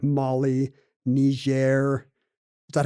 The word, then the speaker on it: Niger: But are there Anglo people who will just say Niger? Like people who are pronouncing it wrong. Okay. Good to know. You can say Nigeria, which is a neighboring country. Sure. But Niger is how Niger is pronounced.